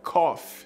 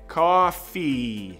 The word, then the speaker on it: coffee: Muita gente pronuncia cough, tá? Cough é isso que eu fiz. É tossir. E escreve diferentaço. Café se escreve assim, como está na tela, e a pronúncia é coffee.